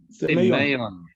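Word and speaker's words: σημεῖον: Semeion. Semeion, because the emphasis is on the A. Can you see that accent that on top? That shows you where you must put the emphasis in the word.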